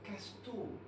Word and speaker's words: Casto: C'est vrai que les hommes ont du mal à prononcer mon nom. C'est Casto.